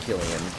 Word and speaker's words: Cillian: When filming Oppenheimer, Cillian Murphy, I think it's pronounced Killian, wanted to emulate Oppenheimer's look in real life, which was very frail and thin and almost emaciated.